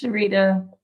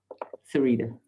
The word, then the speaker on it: Sarita: Thanks, Sharita. Wait, I think I just said her name wrong. Sarita.